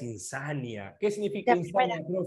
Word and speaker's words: insania: Profe, ¿cómo es la palabra? ¿Insania o insanía? ¿Ah? La palabra es insania.